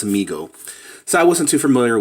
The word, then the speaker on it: Mego: me in the comments I was saying Meg oh and he said no no their problem they're pronounced amigo so I wasn't too